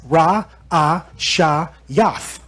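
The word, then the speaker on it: ראשית: Ra, A, Sha, Yath. How I say it? Ra'ashayath. That's how you say beginning.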